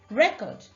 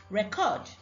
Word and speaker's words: record: Record, noun. Record, verb. Present, noun. Present, verb. The red marks show the syllables that are stressed in the words.